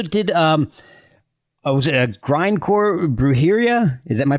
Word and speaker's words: Brujeria: and you also did I was a grindcore Brujeria is that my pronouncing that right yes yeah yes how did